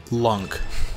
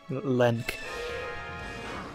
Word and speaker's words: Link: It's pronounced Lunk. So he's not married to you. It's pronounced Lenk. Lenk.